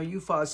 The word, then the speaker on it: Uphaz: Now, Uphaz is a place. It's spelled U-P-H-A-Z.